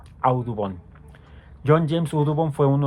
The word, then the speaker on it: Audubon: La de John James Odubon se pronuncia Audubon. Audubon.